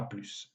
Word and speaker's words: plus: Même chose pour plus qui, dans les phrases normales, se prononce sans le S, mais quand on veut abréger l'expression, par exemple, à plus tard, on prononce le S final, à plus.